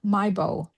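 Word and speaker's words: Miebo: M M I E Bo O. Maybo. Maybo.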